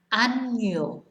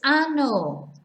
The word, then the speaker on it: año: And so these words, we have año, año. So it sounds like it's A-N-Y-O, not ano, which means something completely different.